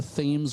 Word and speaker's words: Thames: It looks like a mansion, a brick mansion out there at the mouth of the Thames River. They pronounce it Thames in Connecticut, not Thames.